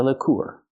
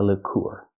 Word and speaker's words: liqueur: ice this is a lur let's practice this is Bailey's Irish Cream is this a popular lur in the US that's right this is a popular lur not liquor it's a Lor so remember these three